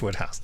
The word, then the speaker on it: Wodehouse: I know it's pronounced Wodehouse.